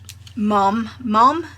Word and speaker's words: mom: But in the Midlands in the UK, mom, M-O-M, is the preferred pronunciation for mother.